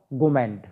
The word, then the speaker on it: gourmand: Are silent नहीं बोलेंगे, तो इसका जो उच्चारण हुआ वो हुआ गोमेंड।